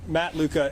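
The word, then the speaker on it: Luka: Could you just say your name and spell it so we get it correct? Matt Luca, L-U-K-A.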